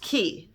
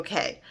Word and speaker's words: Cay: But it is actually pronounced key. However, Royal Caribbean trademarked the name Perfect Day at Coco Cay, and they mean for you to pronounce it K because it rhymes with day.